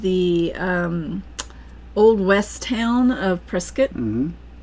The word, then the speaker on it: Prescott: It looks like Prescott. It does look like Prescott, but the locals call it Prescott. Yes, they do. Like a press kit.